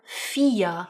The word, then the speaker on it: vier: Then 'v's make 'f' sounds, like the number vier (4) is spelled v i e r (feahr) 'W's ,now in turn, make 'v' sounds such as the word 'Wasser'(vasa) for water.